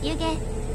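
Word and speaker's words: 弓削: こちらの駅は弓削りと書いて湯と読みます運転士さんが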